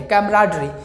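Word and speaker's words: camaraderie: बीच में कैमराडरी है, कैमराडरी। इसका प्रोनाउंसिएशन जो याद रखिएगा, लिखा हुआ है कैमराडरी। ठीक है, कैमरा डरी अलग अलग नहीं है, इसको राडरी पढ़िएगा पूरा, और ये कैमरा, ठीक है, तो कैमराडरी है आपका, ठीक है।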